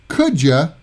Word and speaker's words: could you: to the beach so would you is usually pronounced as would you could you is Kuja and don't you is don't cha don't cha